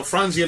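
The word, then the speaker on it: Franzia: fania frania fr fronia it's only three syllables bro so frania makes a box to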